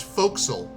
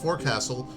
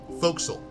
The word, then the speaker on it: forecastle: right how you spell f-o-r-e-c-a-s-l-t Ock yep that's pronounced folksel Ford Castle is not pronounced Forecastle it's pronounced folksel foxel oh God greater root nail that's great I'm